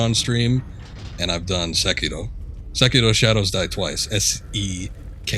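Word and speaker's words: Sekiro: stream and i've done secure shadows died twice s-e-k-i-r-o i guess some people say sakiro but i can't break away from the original pronunciation oh it did go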